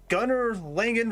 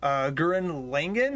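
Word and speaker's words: Gurren Lagann: Gunnar Langen versus White Lantern. Now, I'm not familiar with Gurren. Sorry, I mispronounced that wrong. Gurren Langen.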